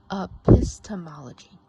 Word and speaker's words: epistemology: So this word is pronounced epistemology, and I have it here in orange, epistemology.